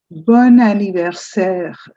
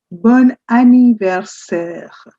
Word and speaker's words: bon anniversaire: It's called "bon anniversaire". "Bon anniversaire". You know the word "bon" already with "bonjour" and "bonsoir". So, this is a ni ver ser. "Bon anniversaire". It's like one word continuing.